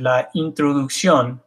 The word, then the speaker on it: introducción: So this is la introducción. I use this one on purpose because English speakers have a tendency to say words like this because it looks like introduction.